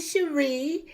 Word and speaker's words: Shari: Is it just Melody Shari, or does she say Melody Holt anymore? Because I don't want to say it wrong. It's Melody Cherie, and happy birthday.